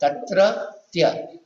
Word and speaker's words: तत्रत्य: मतलब तत्तृत्य आएगा ना, युक्त में भी आता है उच्चारण नहीं आ रहा, तत्तृत्य आधा तावरिया आएगा, सीधी बात। तत्रत्य तत्रत्य यही पद आएगा ना।